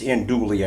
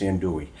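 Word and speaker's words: andouille: you pronounce the yells I don't think it's Hindu Lee I think it's in Dewey in one of my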